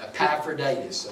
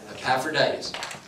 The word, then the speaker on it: Epaphroditus: Epaphroditus, okay? Epaphroditus.